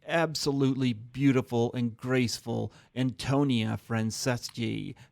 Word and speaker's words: Franceschi: it's hard to pronounce because in Italian, the CES and the CHI, CH is a K sound, and Okay. C followed by a vowel is a ch sound. Okay, so Franceschi. There you go.